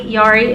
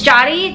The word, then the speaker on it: Jody: So it was Jody, Yari, and Yadi is what I would say, because I didn't know. And then like a little bit in, I finally asked, and it's Jody, to those of you that were wondering.